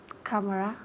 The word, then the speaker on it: camera: Camera. Good. Okay, repeat again. Camera. Okay, very good. Camera. Camera. Again, ¿dónde recae el énfasis? En la primera sílaba.